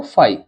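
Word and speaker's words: Phi: ये बन जाएगा फ बोलते हैं इसको फाई पी एच आई य फ नहीं लिखा हुआ है फाई लिखा हुआ है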